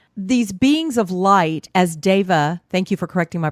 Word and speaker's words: Deva: So just the concept that these beings of light, as Deva, thank you for correcting my pronunciation, as Deva represents beings of light in Sanskrit, light is